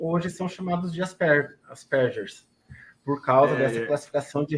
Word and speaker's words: Asperger: sem problema eu pesquisei Asperger mesmo na Inglaterra eles falam asperder com J mas é o sobrenome alemão a pronúncia mesmo o resto do mundo fora é uma curiosidade